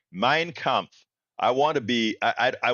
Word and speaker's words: Mein Kampf: Mein Kampf. I want to be, I want to look like I know a little something. Mein Kampf.